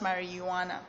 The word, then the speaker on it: marijuana: it spells marriage II wanna G but it's pronounced marijuana okay so these are actually if abused okay